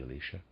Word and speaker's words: Elisha: I'm going to read as aside, I will pronounce that Elisha. It might be Elisha.